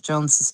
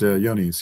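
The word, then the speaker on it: Johne's: losing battle in the herd with Jones's disease. John's disease. Yonies. Yeah. What's it called? Yonies. It's pronounced Yonies.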